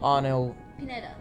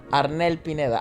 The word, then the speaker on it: Arnel Pineda: uh this gentleman called arnold pineda arnel pineda i should start saying in spanish because then people start praising my pronunciation and not just yours but yeah i think that probably is the healthiest way to approach filipino names spanish because you're most likely to get it right that way yeah well you know